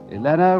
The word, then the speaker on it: Elena: Elena rhymes with Vienna.